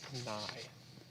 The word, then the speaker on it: Nye: That's pronounced nigh.